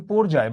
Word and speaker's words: পর্যায়: এটার উচ্চারণ কিন্তু পর্যায়, বাই দা ওয়ে, পর্যায় না, পর্যায় না, পর্যায়, পর্যায় সারণ। ঠিক আছে?